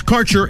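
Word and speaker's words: Kaercher: Quality cannabis Insurance Services is spelled k a e r c h e r that's carer insurance we have worked with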